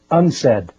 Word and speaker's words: UNCED: It is pronounced unsaid and perhaps indicating the secret agenda of this meeting.